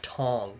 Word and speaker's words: Tang: during the medieval era Tang is pronounced like Tong oh okay Tong got